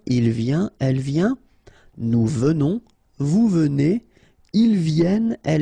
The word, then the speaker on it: venons: Okay, so final S not pronounced, and then remember that you pronounce this E like a the, venons, okay, O-N in your nose, on, venons, nous venons, all right,